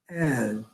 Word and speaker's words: add: in standard american english when it's voiced it's like a two step it's like add add air even though it's one syllable there's two steps to the pronunciation you break it into two and stretch it out a little bit and add and not at and you said add yes